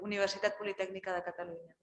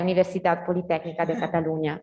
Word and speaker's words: Universitat Politècnica de Catalunya: By the way, is the Catalan, Ulises, what's the correct pronunciation? Is the same institutions by Ulises? Yeah, the Universitat Politècnica de Catalunya. Okay, Universitat Politècnica de Catalunya.